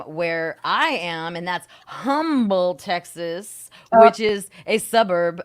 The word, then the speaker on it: Humble: I know, but I the love H the is the H is silent. It's humble.